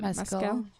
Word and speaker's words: Mescal: Mescal.